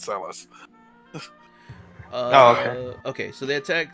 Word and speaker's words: Celes: No, they actually pronounce Celis in World of Final Fantasy, so we find out it's Celis.